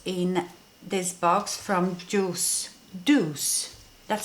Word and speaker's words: Doucce: all that was in this box from juice Deuce that's how you pronounce it I um when I was showing